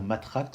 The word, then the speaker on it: Mathrax: ma relaxe de l'ovule on pourra dire matraque si on veut prononcer à la française je vais vous expliquer